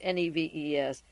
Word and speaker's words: Neves: t-a-n-c-r-e-d-o tancredo Nev n-e-v-e-s the S is silent and she received a